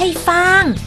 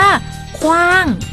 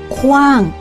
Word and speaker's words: ขว้าง: เขา ต้อง พูด ว่า ขว้าง เอา ไม่ รู้ นี่ ทำ ที่ มี วอแหวน เป็น อักษร ควบ ต้อง อ่าน ออก เสียง ทั้ง สอง ตัว เป็น เสียง ควบ เช่น ขว้าง ไม่ พี่ ฟ่าง แขวน ไม่ ใช่ แฟน